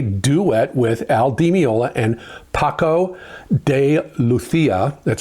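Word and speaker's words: Paco de Lucía: And it is a duet with Al Demiola and Paco de Luthia. That's how you pronounce it.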